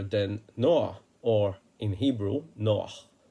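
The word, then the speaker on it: נח: We're talking about no other than Noah, or in Hebrew, Noah, because the Anglos cannot deal with the h. They cut off the ends.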